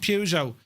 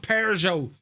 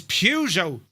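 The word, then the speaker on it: Peugeot: Who mentioned Pujo? It don't. It's not called Peru. It's Pujo. It's French.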